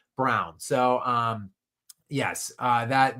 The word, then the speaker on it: Braun: Uh it it does look like brown but or bronn I should say but it is pronounced like the color brown.